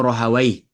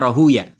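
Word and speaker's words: راهويه: Ya, ada yang bacanya Rahuya. Jadi kalau ulama-ulama hadis bacanya Rahuya. Ya, tapi kalau ulama-ulama bahasa Arab bacanya Rahawai.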